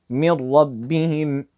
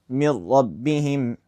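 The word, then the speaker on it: مِن رَّبِّهِمْ: Is it from the category of with ghunnah or without ghunnah? Without ghunnah. So, we'd say mir rabbihim mir rabbihim.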